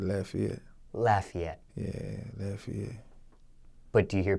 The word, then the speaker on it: Lafayette: trauma still living in Lafayette yeah I pronounced it wrong huh is it Lafayette I said Lafayette he just said it the correct way I said it the